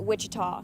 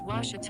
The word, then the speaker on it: Ouachita: searching for Baptist University back in Texas everybody pronounces it Witchita but really it's was was was how would you pronounce it was was it's was Baptist University get it right it's was people